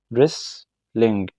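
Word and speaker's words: wrestling: ايه ريسلين ريس لين يبقى احنا هنا حذفنا كام حرف اتنين حرف الدبليو وحرف التي ده مش هيتنطق ولا ده هيتنطق يبقى ايه ريس لينج تمام الرمايه ارتشري ارتشري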